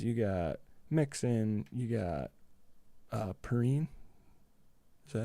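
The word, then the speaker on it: Perine: You got Joe Burrow, you got Chase, you got Higgins, you got Mixon, you got Perrine.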